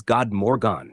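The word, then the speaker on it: god morgon: pronounced like hey two good morning is God Morgan pronounced like good three good evening is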